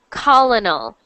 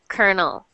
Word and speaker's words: colonel: but you normally I I always hear people pronounce it like colonal this is a silly word we actually pronounce this just like konel so this is Kernel